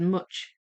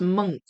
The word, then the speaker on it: Munch: Munch in English, but the ch is pronounced hard, like monk. Oh, I thought it said much. It looked like it said much, but it's pronounced monk.